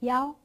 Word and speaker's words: 幺: Why?In speaking, when you tell numbers, if there is 一, you could say 幺 instead.